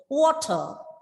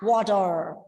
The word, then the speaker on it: water: then closing ta and at the end of the word r is silent that is water and water water right how do